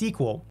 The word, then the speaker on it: SQL: And for many types of relational databases, we can use the structured query language, or SQL for short, also sometimes pronounced SQL.